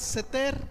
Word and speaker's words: seter: hebreo es la palabra, no sé si yo lo pronuncie bien, pero la palabra es seter, S-E-T-E-R, seter.